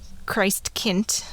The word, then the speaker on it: Christkind: They had a few different ones that popped up, but Christkind, or Christkind, as it would be pronounced there, sometimes also called Christkindl.